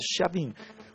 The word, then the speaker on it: Chiavini: Se eu posso aqui ler, mesmo Chiavini, que é um indigenista, mas o nome dele, até a minha pronúncia está correta, Chiavini, que é assim, porque é italiano.